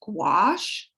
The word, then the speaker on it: gouache: nobody ever knows how to say but that's pronounced gouache or acrylic um you can buy either or